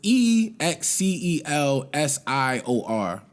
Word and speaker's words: Excelsior: Benny the Butcher dropped that Excelsior. I think that's how you pronounce it. It's EXCELSIOR.